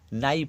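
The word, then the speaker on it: knife: এর উচ্চারণটা এখানে নেই নাইফ কে এন আই এফ ই কে এর উচ্চারণ নেই এখানে সেই কে সাইলেন্ট আছে এখানে নাইফ মানে ছুরি আচ্ছা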